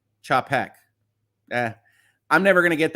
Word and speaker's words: Chapek: like the reference okay you are pronouncing chappick's name wrong it's chapik chop heck uh I'm never gonna